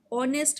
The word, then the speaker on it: honest: So here it's having a sound of honest man. It's written HONEST, but H is silent, but we'll consider it as honest man.